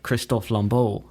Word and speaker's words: Christopher Lambert: director talking about it how do you say Christopher Lambert Christopher Lambert isn't it well they seem to say Kristoff Lomo well I mean I I know he's French Canadian which is why he